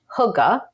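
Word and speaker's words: hygge: y g g e I believe it's pronounced Huga again don't quote me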